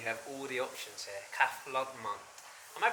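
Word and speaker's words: Café Landtmann: Cafe Landman. Am I pronouncing that right? Cafe Landman. Cafe Landman, yes.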